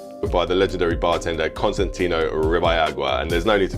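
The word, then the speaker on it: Constantino Ribalaigua: Floridita Bar in Cuba by the legendary bartender Constantino Ribayagua. Constantino Ribayagua. By the legendary bartender Constantino Ribayagua, and there's no need to comment on that pronunciation because I pretty much nailed it.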